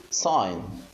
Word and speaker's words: sign: the way of translation here we say sign so the G sound here is not there so we could we